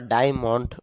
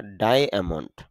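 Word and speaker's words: diamond: ডায়মন্ড যদিও আমরা ডায়মন্ড বলি তবে শুদ্ধ উচ্চারণটা হবে ডায়মন্ড।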